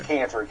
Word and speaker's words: Kanter: Kanter, that's how you pronounce it, correct? Kanter. Yes, Kanter, K-A-N-T-E-R, yes.